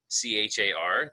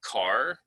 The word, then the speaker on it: char: say cares um and some people say char because it's c-h-a-r that looks like the english word char and that's